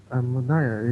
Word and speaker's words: Madaya: Madaya is as you said.